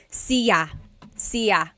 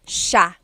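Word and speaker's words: siya: It looks like it should be pronounced cia sa but it's actually pronounced sha sha.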